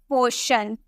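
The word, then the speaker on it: portion: Next, अगर हमें बोलना हो पोर्शन, आपको यहाँ टी के बाद IO नजर आ रहा है ना, इसीलिए हम इसे शॉ में प्रोनाउंस करेंगे, हम इसे बोलेंगे पोर्शन।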